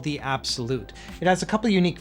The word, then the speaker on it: abxylute: with the company and they said it is supposed to be pronounced as absolute so that's what we're